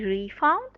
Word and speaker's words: refund: a second part as a noun we say refund as a word we say refound is on